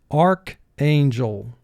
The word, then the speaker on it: archangel: pronunciation of this word ch remains with the ar team in the first syllable the a in the second syllable is representing its long sound so we have an